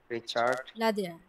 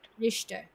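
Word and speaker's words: Richter: আচ্ছা, গুটেন টাগ, মাই নামে ইজ রিচার্ড। রিচার্ড। রিস্টার, এটা শয়ের মতো রিস্টার।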